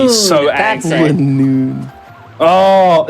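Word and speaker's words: Linoone: It's Linoon like Linen.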